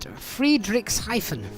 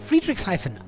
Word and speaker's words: Friedrichshafen: Barry, you pronounce it Friedrichshafen. Friedrichshafen.